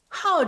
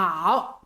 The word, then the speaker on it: 好: hào 这个音 Words with the pronunciation "hào", 我们一起再来读一遍这些常用词吧 let's read them again together.